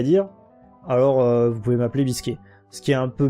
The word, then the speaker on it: Biscuit: voulez Toashi c'est euh que Biscuit soit soit prononcé à l'anglaise. Donc Biscuit euh c'est pour ça qu'on a Bisquet souvent euh même je